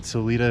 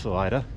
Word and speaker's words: Salida: was pretty nice so uh heading up to salida i know i said solida in earlier videos but it's pronounced salida getting better at the pronunciation i hope and